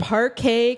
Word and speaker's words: Parquet Courts: And this band, also from Brooklyn, New York, they're called Parquet Courts. Parquet, not spelled like the butter. Not like parkour either.